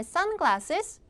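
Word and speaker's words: sunglasses: 수영 복이죠 수영복 그다음에 suges 자 앞에 강세를 주셔야 돼요 여러분들 이것도 합성어 합성어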